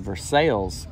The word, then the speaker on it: Versailles: a very historic location here in kentucky and versailles kentucky and um that is the way it's pronounced here here yeah yeah that's the trench